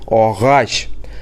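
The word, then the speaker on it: агач: Г будет звучать как Г, например, огач.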